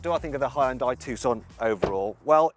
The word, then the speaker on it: Hyundai: Now, did you know that while us Brits say Hyundai, the correct Korean pronunciation is Hyundai?